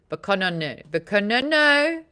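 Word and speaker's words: Bokononism: I was missing a syllable. Bacononism.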